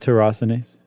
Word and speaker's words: tyrosinase: And the secret to it all is a little protein called tyrosinase. Right. How would you pronounce it? Just exactly like that, tyrosinase.